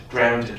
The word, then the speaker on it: drowned: She pronounced the word drowned it with 2 syllables.